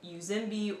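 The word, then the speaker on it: uzembe: in swahili that is spelled u z e m b e which from an english speaking perspective from an american english speaking perspective it looks like it would be pronounced something like uzimbi or uzimbi or something like that which is very close to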